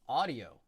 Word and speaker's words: Audino: I recently learned that Audino is pronounced audio. really with an iron in there.